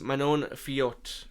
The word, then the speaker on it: Manon Fiot: Valentina Shevchenko versus Manon Fiot, I believe is how you pronounce it.